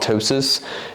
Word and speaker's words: ptosis: the upper eyelids ptosis I bet that pee is silent it's probably just called ptosis due to paralysis of